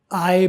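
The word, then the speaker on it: eye: और ख़ुद आँख जो है, ये सारी आँख, इसे कहेंगे आई, आई नहीं कहना आपने। अंग्रेज़ी ज़ुबान में भी ABC में जो आई आता है, आई अक्सर बोलते हैं, उसे आपने आई नहीं बोलना, आए बोलना है, आए।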